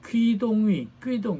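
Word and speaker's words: Qu Dongyu: 어쨌든 조코이 대통령은 FAO 퀴동위 중국어 발음입니다. 큐로 씁니다.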